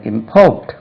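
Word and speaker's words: import: இதை பிஓ ஆர் டி ஞாபகம் வைக்க வேண்டியது செகண்ட் சிலபல் தான் ஸ்ட்ரெஸ் இம்போர்ட் பண்ணனும்பா அப்படி கிடையாது இம்போர்ட் இம்போர்ட் stress lies on the second ஸ்லெபில் இம்போர்ட்டிங் எம் பி ஓ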